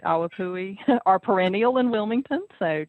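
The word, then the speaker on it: ʻawapuhi: Awapui is the correct pronunciation. Yes. It's a he on the end. It's Hawaiian. In Hawaiian, each letter is pronounced.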